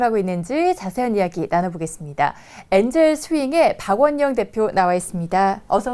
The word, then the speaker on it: 엔젤스윙: 네, 엔젤 스윙, 네, 대학생들이 만든 벤처 모임인데요. 엔젤 스윙입니까? 엔젤스 윙입니까? 회사 네. 소개 좀 해주세요. 네. 저희 그 엔젤 스윙은 네. 이제 그냥 엔젤 스윙이라고 발음을 하면 되고요.